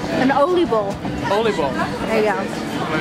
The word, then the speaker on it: oliebol: Oliebol. There you go. Am I pronouncing it right? Yes. It's an oliebol.